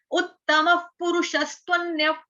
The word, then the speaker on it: उत्तमः पुरुषस्त्वन्यः: त के बाद क्या है? पूरा व, त्व त्व। उसके साथ व के साथ ही क्या आएगा? आधा न, वन, त्वन्य त्वन्य। य के बाद क्या है? विसर्ग का उच्चारण आधा फ।